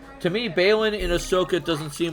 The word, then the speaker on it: Ahsoka: like the new series, Ahsoka, Ahsoka, is that how you pronounce it? Yeah, Ahsoka. Yeah, I didn't watch the show.